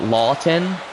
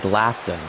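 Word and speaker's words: Laughton: that can be difficult so it's laon it's the way you're spelling it it's like laughon laughon here's Atkinson and he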